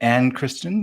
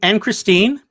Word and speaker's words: Anne Christine: Is it Anne Kristen, or how do you say her first? Anne Christine. Anne Christine. Anne Christine, yes.